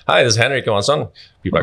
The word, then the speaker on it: Henrik Johansson: Henrik Johansson. That's me. That's well pronounced.